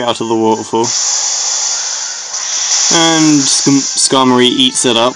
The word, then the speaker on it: Skarmory: scar I don't know I think it's about Skarmory but I like to pronounce it skimore anyway um pencil holding